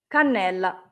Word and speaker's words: cannella: ¿Cómo se pronuncia? Cannella.